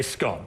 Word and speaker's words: scone: like this, is a scone. I'm going to prepare one for you. Okay. And what is this pronounced? Well, it's called a scone, or if you're really pretentious, you can call it a scone.